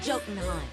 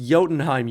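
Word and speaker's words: Jotunheim: I await your arrival in Jotenheim. It's pronounced Yotenheim, you dumb idiot.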